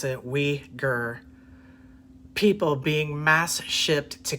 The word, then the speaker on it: Uighur: allegations of its uyghur p that's how you pronounce it we gir people being mass shipped to communist re-education camps